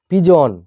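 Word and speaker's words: pigeon: পিজন, পিআই জিইওএন, পিজন মানে পায়রা।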